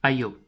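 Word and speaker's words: այո: mieux vaut à ivo ça se prononce ayew ayew ça signifie oui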